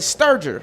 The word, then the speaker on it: Sterger: We got Jenn Sterger, right?